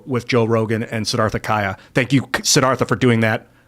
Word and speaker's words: Chaya: It's spelled Chaya, but it's pronounced Kaya. Chaya.